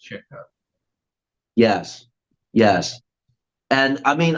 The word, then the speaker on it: Chico: that's an understandable thing but to be to be technically correct it's chicko yes yes and I